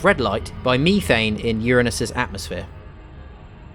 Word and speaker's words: Uranus: methane in uranus's atmosphere now you may notice that i'm pronouncing it uranus to avoid pronouncing it uranus which is how i remember it being called growing up it seems to have had a rebrand as uranus at some point i